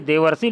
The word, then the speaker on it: देवर्षि: अब देखिए देवर्षि लिखा नहीं होगा लेकिन उच्चारण में देव अर्षि, अर आ रहा है बच्चों कि नहीं आ रहा, तो ये हो जाएगा इस प्रकार से देवर्षि।